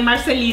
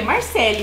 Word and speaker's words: Marcele: Igual meu nome, tipo, é Marcele. Então, todo mundo fala que... todo mundo lê Marceli. É, Marceli. Mas eu falo que é Marcele.